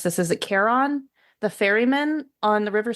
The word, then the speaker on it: Charon: I'm going to mispronounce this. Is it Charon, the ferryman on the River Styx?